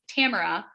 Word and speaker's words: Tamara: didn't pronounce it because mine is tamara like camera and people always call me tamara and i never correct